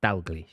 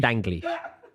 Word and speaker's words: Dalglish: No, it's not an N. It's an L. Dalglish. That's what I said. Dalglish. Danglish. It's an L. Why are you like? Yeah. That's what I said. Dalglish.